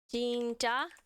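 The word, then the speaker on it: 진짜: Por exemplo, jinja, né? Sério, dos doramas, né? Jinja. Então, é esse sonzinho aí, mas já.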